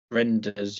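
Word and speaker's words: Reijnders: Reinders? How do you pronounce it? Renders, yeah, I know who you mean.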